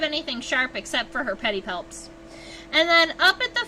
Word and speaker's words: pedipalps: a place for the pedipalps. Oh, if you're curious, pedipalps is spelled Pedipalps. P-A-L-P-S. Pedi, like a pedicure, and palps, like mouth fingers, right?